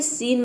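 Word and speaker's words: scene: अगला वर्ड है सीन, मतलब होता है दृश्य।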